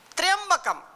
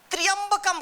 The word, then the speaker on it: त्र्यंबकम: त्र्यंबकम, कहीं कहीं उच्चारण में लोग गड़बड़ी करते हैं, त्र्यंबकम कहीं बोलते हैं, कहे त्र्यंबकम। जब यहाँ त्र आधा जो है त्र्यंबकम, त्रयंबकम, हाँ, त्र्यंबकम यजामहे, त्र्यंबकम यजामहे।